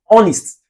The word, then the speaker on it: honest: It's not honest though. The pronunciation is honest. Honest. This H is silent.